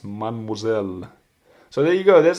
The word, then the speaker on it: mademoiselle: Same for the word mademoiselle. You don't say mademoiselle, it's pronounced mademoiselle.